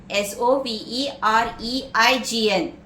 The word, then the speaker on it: sovereign: Next word, sovereign, S-O-V-E-R-E-I-G-N. Yeah, it is sovereign.